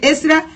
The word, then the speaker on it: Ezra: Now, for E said R A. E said R A. Ezra. Don't know how you pronounce, but that is how I pronounce. Mm-hmm. Yes, good. That is the right one.